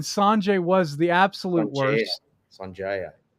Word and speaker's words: Sanjaya: Sanjaya. Yeah, Sanjaya. That's what it was. Yeah, Sanjaya. You gotta say it right.